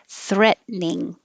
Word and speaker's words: threatening: So down and back, threat, threat, threat, threatening, or threatening, three syllables, threatening, or shorter, threatening.